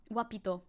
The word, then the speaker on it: guapito: Gua is pronounced wa. Guapito. Guapito! Guapito Teji. Very cute. Very, very cute. It's always wa. No g. No g allowed.